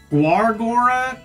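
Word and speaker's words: Gawr Gura: I probably butchered. It's Guora. Gargora, I'm so sorry.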